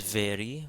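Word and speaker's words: ⲃⲉⲣⲓ: And again, the letter that looks like P in English is in fact an R, it's a rho. So this is veri, which means new.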